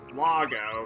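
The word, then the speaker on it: Loggo: And I just now realized that he's pronounced logo because he's a toilet. And when someone uh says that they dropped a log, that means that they're taking a poop.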